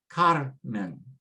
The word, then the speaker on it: Carmen: And so again, if it's a consonant N next to the last, so we say Carmen, Carmen.